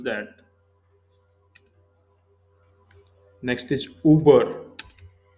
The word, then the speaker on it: über: Next is Uber. Uber, here you have to use umlaut, two dots over the U.